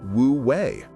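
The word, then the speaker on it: wuwei: This is where Alan Watts philosophy introduces a beautiful idea from Taoism called wooi pronounced wooui.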